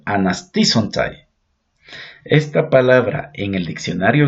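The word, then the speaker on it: ἀναστήσονται: Esta palabra en griego se llama, se la pronuncia anasisontai.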